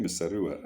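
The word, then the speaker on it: Muzorewa: Here it's called Misariwa. I know it's called Misarawa. I remember the name well, Misarawa, but here it's spelled Muzoriwa, to a clear position.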